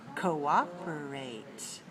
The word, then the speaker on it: cooperate: This comes from the verb to cooperate. Cooperate has 4 syllables. Also, it's stressed on the second syllable.